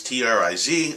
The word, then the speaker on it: TRIZ: guide is about which is something called It's pronounced trees t-r-i-z I'm a Westerner I pronounce it triz um